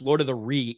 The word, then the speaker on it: Lord of the Ree: Ryan, it's pronounced Lord of the Ree. Even Jeremy gets it right.